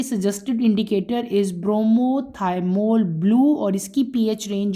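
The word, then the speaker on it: bromothymol blue: उसका नाम है ब्रोमोथाइमोल ब्लू। क्या नाम है? ब्रोमो थाइमोल। स्पेलिंग लिख लो आप लोग। मैं आप लोगों को लिखवा देती हूं। बी आर ओ एम ओ ब्रोमो बी आर ओ एम ओ थाईमोल टी एच वाई एम ओ एल दोबारा सुन लो ब्रोमोथाइमोल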